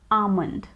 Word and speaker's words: almond: is always silent so it is always pronounced as almond almond in a sentence soaked